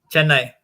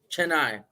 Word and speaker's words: Chennai: Chennai. Chennai.